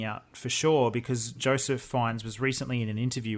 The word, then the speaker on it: Fiennes: film about 9/11 by Joseph, I think you pronounce it Fiennes. Is it Joseph Fiennes?